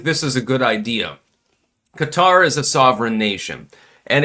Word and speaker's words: Qatar: Israel attacks Hamas senior leadership in Doha Qatar. And by the way, some people call it Qatar, but I believe the actual pronunciation is Qatar.